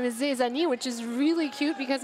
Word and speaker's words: Zezani: Zezani, who also filled out my form and said that their name is actually for they, so ze, like the French pronunciation for they, and Zani, like Zany. like Zani on the, but it's because they always make it Zani on the track.